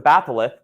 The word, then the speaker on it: batholith: A batholith, that's how you say it. I don't have a lisp. I know every time I say it, it sounds like I have a lisp.